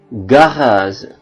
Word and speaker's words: garage: diikuti oleh huruf vokal I dan e dibaca Z contoh azir gendarmeri magji logisel saage page garage azir itu aksi atau